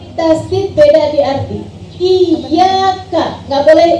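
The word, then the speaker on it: إِيَّاكَ: Iyyaka ada tasdidnya. Apa artinya? Iyyaka hanya kepadamu. Ya Allah, kami menyembah hanya kepadamu ya Allah, kami mohon pertolongan. Tapi kalau kamu bacanya iyyaka na'budu wa iyyaka nasta'in, kepada bayangan aku menyembah dan kepada bayangan aku mohon pertolongan. Bahaya banget ini. Beda di tasdid doang bisa merubah arti segitunya.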